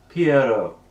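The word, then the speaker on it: Pierrot: uh by the way it's not um poo from like the the investigator appar it's a clown name it's um pronounced Piero Pio which is a French clown oh Pier no the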